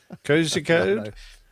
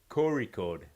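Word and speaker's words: Kozhikode: It's a It's like a deep gut roll sound.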